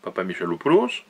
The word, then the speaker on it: Papamichalopoulos: célèbre qui est l'affaire Papa Michalopoulos, Alors, ça s'écrit PAPAMICHALOPOULOS, Papa Michalopoulos, arrêt de la Cour européenne des